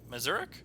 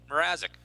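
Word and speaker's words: Mrázek: Is that how you say it? I don't know, Mazurek. I've never had to say the guy's last name. Mrazek. There you go. Mrazek. Mrazek. I've read it, but never said it.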